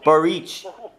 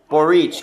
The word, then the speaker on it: Borics: say it that way so barrich borrice because it in england the english spelling is like b-o-r-i-c-s forex